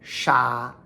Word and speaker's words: 刹: So this cha can also be sha, as in 刹车, step on the brakes. We're dealing with the pronunciation of cha right now, like cha na, which means in an instant.